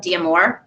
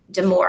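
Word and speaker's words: Damour: psychologist is named dr lisa diamore damore i think is actually how she pronounces it um and she's amazing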